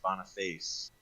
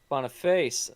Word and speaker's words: Boniface: Appreciate it, guys, and it is Boniface. Boniface. Seth's been saying it wrong, and I've been copying Seth.